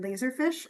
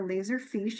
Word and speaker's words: Laserfiche: represent a product called Laserfiche or Laserfiche. You can pronounce it either way.